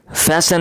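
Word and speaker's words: fasten: Number एक फैशन your seat belt. यह फैशन है। यह टी साइलेंट है।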